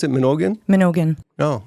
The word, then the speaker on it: Mnogin: So how do you pronounce it? Mnogin? Mnogin.